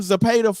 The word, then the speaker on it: Zepeda: He was like, the WBC ordered William Zepeda. Did I say his name right? Yeah. William Zepeda fight versus Shakur Stevenson.